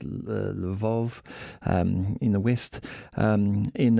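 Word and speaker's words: Lviv: the west of Ukraine near lever or pronounced levov in the west um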